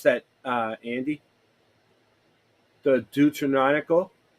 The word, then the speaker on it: Deuterocanonical: biblical canons, along with the, how do you pronounce that, Andy? The Deuterocanonical, Deuterocanonical, and extra biblical manuscripts, which preserve evidence of the diversity of religious thought in late Second Temple Judaism.